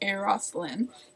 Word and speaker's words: Euros Lyn: Earth was directed by a man named aeroslin even though his name is spelled Urus oh no I just